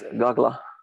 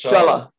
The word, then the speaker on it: Chala: Or it's Gagla. I finally learned how to say her name. It's Chala.